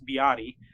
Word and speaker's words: BYD: of their BYD or it's actually pronounced be Adi my last money only sanction he's here be Adi because I thought it was build your dream well they call it be Adi okay all right didn't